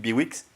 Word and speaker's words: Bihouix: Donc ça, c'est une piste que notre invité, Philippe, où est-ce qu'il est, Philippe Biwix, voilà, Philippe Biwix, je dois prononcer le X, je l'ai fait.